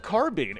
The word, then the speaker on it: carbine: This guy found a Covenant carbine, and yes, that is how you pronounce that word.